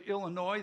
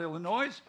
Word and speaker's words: Illinois: He hails from the great state of Illinois. The S is silent. It's not Illinois.